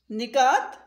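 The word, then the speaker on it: نکات: निकात, न के नीचे ज़ेर है।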